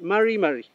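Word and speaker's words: mari mari: Mari, mari. Esa sería la forma de pronunciar, y aquí tenemos la pronunciación de la R, esta consonante. Mari, mari.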